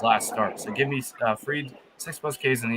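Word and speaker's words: Fried: I got Max Freed.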